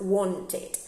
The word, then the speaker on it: wanted: We say the ed, and in here, yes, we have to pronounce a second syllable because the verb want finishes with t, okay? So the past wanted.